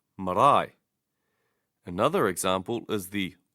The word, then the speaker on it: marae: If there is no long vowel, stress the first diphthong, two different vowels together. For example, I, as in marae. Hear how the stress is on the diphthong marae.